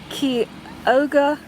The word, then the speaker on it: Chioggia: Okay, here we have the Chioggia. Chioggia? Key, is how it's pronounced.